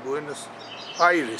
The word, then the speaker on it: Buenos Aires: your visit to Buenos Iris AIS is the correct pronunciation buenus Iris sorry your visit to